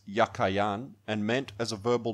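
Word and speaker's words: Jachin: of the two names the word jacquian in Hebrew is yakin it was probably pronounced yakayan and meant as a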